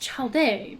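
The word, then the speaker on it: Childe: the all devouring narwhal I think it's pronounced child day but anyway so I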